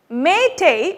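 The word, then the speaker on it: Meitei: question here we go may tay which is spelled m e i t e i is the official language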